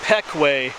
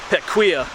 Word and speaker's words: Pequea: me but once again this is called the Peck way trolley trail the way it's spelled you might want to call it the pet quia charlie trail but Stu Peck way trolley trail